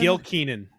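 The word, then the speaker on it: Gil Kenan: How do you pronounce his name? Is it Gil Keenan? Gil Keenan.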